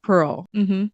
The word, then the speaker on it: Perl: Perl, not spelled the original way, but with the graffiti world, you kind of spell it like different. Yeah. But it's Pearl.